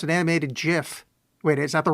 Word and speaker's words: GIF: no idea but yeah it's GIF is the right one that's the because it's graphic yeah right yes wow